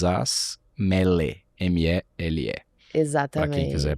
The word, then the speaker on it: Mele: Morra, na palavra em português mesmo, Morra Aarons, com 2 As, Mele, M-E-L-E.